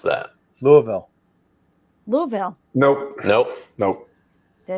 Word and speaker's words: Louisville: Louisville. Bakers. How do you say it? Louisville. Bakers. Louisville. You got it. Louisville. No. Louisville. You got to you got to slur it as much as possible. Louisville.